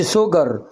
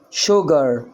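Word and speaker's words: sugar: مش عارف القاعده طبعا هنا سكر اه ماقولش سوجر شوجر شوجر تمام نسيج اهي ادي الاس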